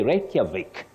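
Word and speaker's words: Reykjavik: not Volkswagen now the last one you say reic reic you're talking about the capital of Iceland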